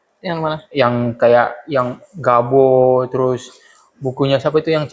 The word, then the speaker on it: Gabo: Cara bacanya apa sih kalau gabo?